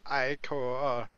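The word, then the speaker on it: ichor: I can fill it with magical iicor that's pronounced iicor. Choose your icore wisely.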